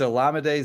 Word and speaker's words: Olamide: like the edible day it's like oh it's llama day so wow I have never heard it said like that before it's olamide Zacchaeus okay um but